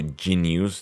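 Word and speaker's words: jeen-yuhs: So Genius, that's how it's pronounced.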